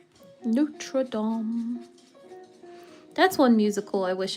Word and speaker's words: Notre Dame: Oh yeah, that must have been like ridiculous amount of research to rebuild the the Notre Dame Notream. Whatever. I said it wrong. Notradam.